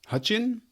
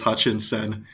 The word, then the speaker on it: Hutcheon: hutchian right Hutchin yeah perfect oh you got it everyone throws like an s in there and says Hutchinson nailed it oh good